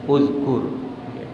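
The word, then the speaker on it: اُذْكُرْ: Fi'il amr itu cara bacanya ada 2. Ya. Kalau sebelum akhirnya dhammah, bacanya awalnya uzkur. Ya. Uzkur. Kalau sebelum akhirnya kasroh atau fathah, awalnya dibaca i.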